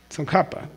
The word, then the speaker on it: Tsongkhapa: Tsongkhapa, just K. There's no reason to put KH.